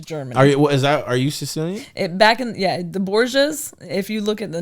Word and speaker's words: Borga: We said Borgia because that's the right way to say her name. I asked her that, but most people will say Borga.